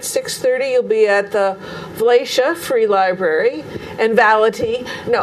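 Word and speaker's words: Valatie: well, just to let the people know that yes, I am seeing that word, but Valatia is the way it's pronounced.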